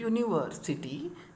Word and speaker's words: university: So it is, when you write in Hindi university, then you see this university. Okay, so what is this U here? It is a constant, not a vowel. Okay, it is a consonant.